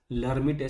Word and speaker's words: Lhermitte: We write it with an L, but L is silent, so we don't pronounce it as Lhermitte sign.